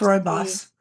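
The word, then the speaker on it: rooibos: T oh R yeah it's royos like the King Kings King of r o o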